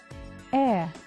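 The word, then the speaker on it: heir: how I say them air our honor see I do not pronounce the h sound I do not say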